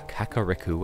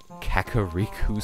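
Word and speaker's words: Kakariko: the village of the Kaka Riku as I used to pronounce it caki Riku Suzuki references but thing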